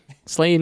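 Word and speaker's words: Slain!: the end january called slain slaying with that's i say it like that because it has an exclamation point on the end it's very critical yes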